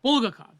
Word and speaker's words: Bulgakov: have by U bukov is that how he pronounce his name bul bu bulgakov bulgakov there you go and uh so but all